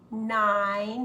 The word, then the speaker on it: nine: in in it eight nine has a long I nine 10 10 those